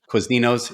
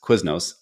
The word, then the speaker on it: Quiznos: He'd go to Quizninos. It's Quiznos.